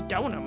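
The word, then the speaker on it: Deauxnim: Elise Donum. Donum? Donum. It's Donum.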